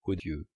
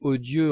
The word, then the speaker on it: odieux: » À la maison, j'avais toujours entendu, dans odieux, prononcer l'o long odieux. Mais M. et Mme Swann disaient odieux en faisant l'o bref.